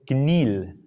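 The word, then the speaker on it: Kneale: A ver, si no estoy mal, este ejemplo lo tomé de la historia de la lógica de los esposos Knill. ¿Ya? Se escribe K-Neale.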